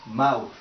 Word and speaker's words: mouth: En inglés es mouth. Mouth. Y para pronunciar este sonido, el último sonido es, tienes que poner tu lengua entre tus dientes, así.